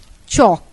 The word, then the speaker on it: chalk: I don't understand why we shall drop L while pronouncing chalk and retain it in Block page 608 beside